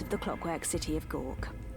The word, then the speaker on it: Goug: the clockwork city of Gawk. That's how you pronounce that? Oh my god, I've been seeing gaug all these years.